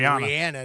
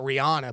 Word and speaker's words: Rihanna: another onez it's actually Rihanna not Rihanna but everybody calls her Rihanna and I think because that H that's in the middle right I mean it gives that impression that it's pronounced that way um but uh there's